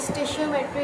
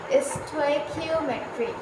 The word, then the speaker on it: stoichiometry: अच्छा, बहुत सारे बच्चों को इसमें कन्फ्यूजन है कि ये स्टेशियोमेट्री है या स्टेक्योमेट्री है। तो मैंने गूगल में इसकी प्रोनाउंसिएशन सर्च करी है, तो इसकी प्रोनाउंसिएशन भी मैंने आपके सामने लिखी है, विच इज़ स्टेक्योमेट्री।